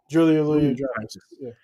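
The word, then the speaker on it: Julia Louis-Dreyfus: Julia Louis Dreyfus.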